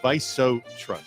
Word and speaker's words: VISO TRUST: me just repeat everybody I used to call it not that but it's pronounced viso trust so you know remember